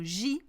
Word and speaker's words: gigantesque: However, when the J is followed by an A or a O or a U or A O U, it's a G sound. So you've got to know this, okay? So gigantesque.